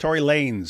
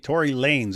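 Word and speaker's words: Tory Lanez: So apparently people in the chat are saying his uh name is pronounced Tory Lanes. So it's Lanes and he just styles it with a Z. Tory Lanes.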